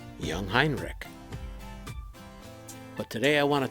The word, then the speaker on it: Jungheinrich: tri-lift called young heinrich it is pronounced young hein rick young heinrich but today i want